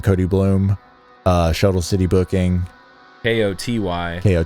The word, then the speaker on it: Koty Bluhm: Uh Instagram, uh just my name, Cody Bloom.